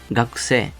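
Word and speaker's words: 学生: Cuando teníamos algo que acaba en e y en i, ese sonido se alargaba como una e larga. Sensei, no. Sensei. Gakusei, no. Gakusei. Luego veremos un poquito también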